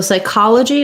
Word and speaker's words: psychology: let's put psychology so psychology is stressed on the call syllable that's letter o is going to have the vowel ah the psy is just